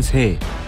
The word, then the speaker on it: 歲: 이 글자의 발음은 새, 뜻은 해, 세월, 나이, 부수는 그칠 지, 총 13획입니다.